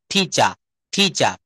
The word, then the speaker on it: teacher: একসেন্টে British একসেন্টে বলেন শব্দের শেষে আর থাকলে সেটা অনুচ্চারিত থাকে ব্রিটিশরা সেটা বলে না টিচা টিচা এইভাবে একটু ইয়ে করবেন।